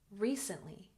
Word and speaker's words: recently: second syllable Japan Japan recently emphasis on the first syllable recently recently good and friends